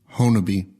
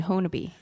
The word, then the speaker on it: Honobia: right here we go honor be honest and that's what i told you that i'd found one that said honor be huh they just don't pronounce the a okay okay well i